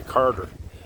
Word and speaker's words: Cartier: here this this guy Carter guy Carter I heard so much about in Canadian history got a big Monument to uh the Carter that's the English pronunciation of Cartier wow yeah this was